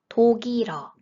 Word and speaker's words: 독일어: 독일어, 독일어, 독일어. There are two liaisons in this word.